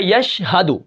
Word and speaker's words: یشہدو: یا شین زبر یش، ہا زبر ہا، یش ہا، دال پیش دو، یشہدو وقفاً یشہد.